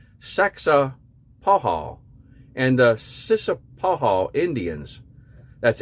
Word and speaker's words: Saxapahaw: It's Saxapahaw, Saxapahaw, and the Sissapahaw Indians. That's Sissapahaw, if you guys want to try to pronounce that yourself.